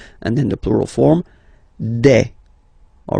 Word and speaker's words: des: Okay, and then the plural form des. All right, here S, you pronounce it like e.